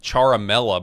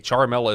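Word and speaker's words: Ciaramella: The guy's name is Eric Charamela, but it's spelled CIA. Charmela is spelled C I A. First three letters of his last name.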